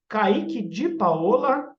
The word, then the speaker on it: Kaique de Paola: Então é Kaique de Paola, aí é um pouquinho, né, enjoado, na pronúncia italiana mesmo, Kaique com C, C-A-I-Q-U-E, D-I-D-I-P-A-L-A.psi, kaiquedepaola.psi é a minha página no Instagram.